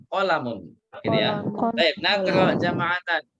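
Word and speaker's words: قلم: Nah, nggak ada yang panjang di sini ya. Qalamun. Jadi bukan qalamun, salah. Kita bacanya qalamun.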